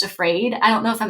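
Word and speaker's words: AFRAD: am I calling it the acronym is afraid AF r a d um affective feminist relational analysis of discourse and I'm like that's perfect because it's pronounced afraid I don't know if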